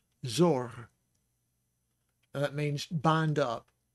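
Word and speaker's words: צור: The other word we have for Sadi is Sadi, O sound, and reish. So it's Zor, Zor.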